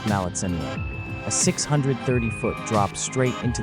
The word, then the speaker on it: Maletsunyane: Then you turn the corner, and there it is, Maletsunyane Falls, pronounced Maletsunyane.